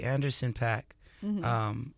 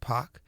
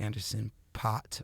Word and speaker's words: Anderson Paak: I like to say Anderson Paak. It's the last name is actually pronounced Paak.